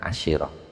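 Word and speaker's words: عشرة: Fa innahum krono sak temene ahlun Najd yaquluna iku ngucap sapa ahlun Najd asyirah, bacanya asyirah bil kasri kelawan kasrah.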